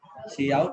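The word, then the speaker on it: cout: इसको काउट या सी आउट ही पढ़ेंगे, काउट ना ही पढ़े वो ज्यादा सही है, सी आउट ज्यादा अच्छा लगता है, ठीक है।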